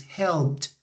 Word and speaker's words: helped: with the next birth we have the birth help the last sound that you pronounce when you when you say this verth which is the P sound so which one which one t t yes this one yes the correct pronunciation is helped with the T sound helped